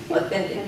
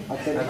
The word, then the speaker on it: authentic: Now, watch the tissue, and I'm going to say it a couple different ways. Authentic. Authentic. Authentic. Authentic. When I say it correctly, it flies in the air like a flag.